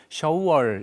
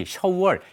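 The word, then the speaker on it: 首尔: 수도라는 말을 뜻을 살면서 발음도 중국말로 샤월 이렇게 하게 됩니다 그래서 수위 shour 이렇게 중국어로는 표기하게 되어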